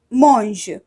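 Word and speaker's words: mangent: form so it becomes monge we do not pronounce e n t okay and we have to pronounce only so monge monge now i have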